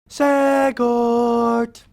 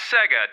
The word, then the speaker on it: Sega: Segort. Cut. Sorry, was there something wrong with that? It's actually pronounced Sega, Ted.